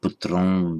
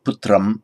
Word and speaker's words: putram: If you're saying putram in isolation without any sandhi, just pronouncing it as an ordinary M, putram, but with semi-vowel, the V following, it becomes more of just a nasal vowel.